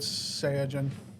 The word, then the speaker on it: Saiyajin: has to do with Saiyajin. It's a Japan It's thing. the way they pronounce. It's the way they pronounce Saiyan.